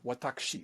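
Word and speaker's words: わたくし: And on a day one, I learned that the Japanese word for I was watakushi. And it's like, whoa, we are not in Kansas anymore. 4 syllables for I.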